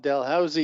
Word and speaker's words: Dalhousie: um from canada correct yeah no one can pronounce it it's called dalhousie university the first dental school in canada ever